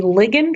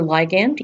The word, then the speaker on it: ligand: interaction of two molecules, a ligand or ligand, either way is proper to pronounce it, and a receptor.